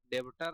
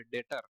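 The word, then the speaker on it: debtor: डेबिटर नहीं पढ़िएगा इसको। बी साइलेंट है यहां पे डेटर।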